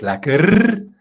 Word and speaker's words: lekker: Marlies Engelbrecht says lekker with lots of r's. Yeah, if you're South African, well, especially Afrikaans, you have to be able to roll your R's.